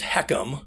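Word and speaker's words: HECM: uh mandated this and it's the h-e-c-m it's pronounced heckum so you know you have to get used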